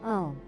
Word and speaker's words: Om: It is not pronounced with an open mouth like Ah, but you must pronounce it with a nasal sound, creating a vibration in the nasal cavity and head.